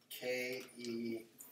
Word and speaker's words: Keanu: How do you spell that? K-E-A-N-U.